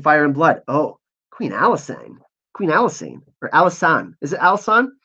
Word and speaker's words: Alysanne: Oh, Queen Alysanne. Or Alysanne. Is it Alysanne? Yeah, sorry. I keep on mispronouncing it because I want to say it in the French way.